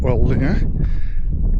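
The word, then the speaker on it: Orléans: It's in a suburb community of Ottawa, the nation's capital in Canada, called Orleans, or Orleans, to say it properly.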